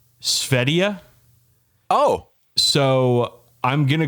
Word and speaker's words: Sverige: I don't know if they use G's over there, though I do know that they spell their country Sverige, and it's pronounced Svedia.